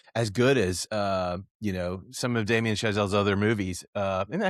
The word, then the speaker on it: Damien Chazelle: Even First Man, which wasn't as good as, some of Damien Chazelle's other movies.